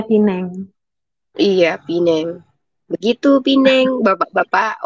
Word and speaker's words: Penang: atau gimana Ya tulisannya Tulisannya Penang tulisannya Penang bacanya Pineng Iya Pineng begitu Pineng